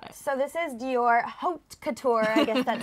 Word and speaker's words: Haute Couture: tell us about it so this is Dior Haute Couture that's how you say it in the high